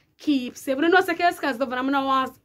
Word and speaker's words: Kellz Kaz: I pronounce Kellz Kaz, Kellz Kaz, Kellz Kaz, Kellz Kaz. So it is Kellz Kaz.